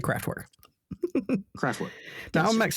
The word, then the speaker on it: Kraftwerk: I've listened to the pronunciation a few times, and the R's are kind of soft, so it's like Kraftwerk.